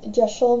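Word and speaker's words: deosil: pronunciations of it but it's a Welsh word and that's how the Welsh pronounce that spelling um gesel means clockwise and that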